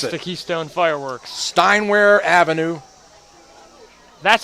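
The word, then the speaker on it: Steinwehr Avenue: Steinware Avenue. That's how you pronounce it.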